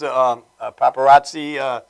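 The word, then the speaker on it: Papparozzi: Brothers, Paparazzi, that's how you pronounce it.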